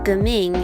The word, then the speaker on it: Geming: about my newest character jimin jiming or gaming is how you say it in the chinese way of saying it because it's the chinese